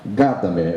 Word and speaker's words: Gadamer: O jurista conhece esse assunto, mas não conhece praticamente este autor, que é um alemão chamado Gadamer. Gadamer é o jeito pelo qual nós pronunciamos o nome dele no Brasil.